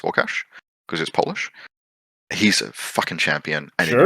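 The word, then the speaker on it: Łukasz: Um, uh, his his actual name is I think it's pronounced Warcash. Um, looks like it's spelled Lucas, but it's pronounced Wash cuz he's Polish.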